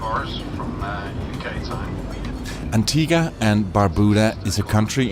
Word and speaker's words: Antigua: again that was before I learned that it's pronounced Antiga and not Antigua which is what you would think when you